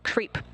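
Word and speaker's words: KREEP: they have a weird component that we call creep, and it's spelled K R E P and stand for potassium, rare earth elements, and phosphor.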